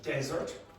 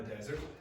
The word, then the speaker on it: desert: Okay, so this is desert. Okay, desert like the Sahara Desert, and you also have desert.